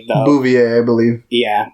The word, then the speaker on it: Bouvier: Yeah, I'm just going with like the Bouvier, I believe. Yeah, I was going with the Simpsons pronunciation because that's Marge's last name before she married Homer.